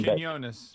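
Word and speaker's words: Quiñones: Canonus.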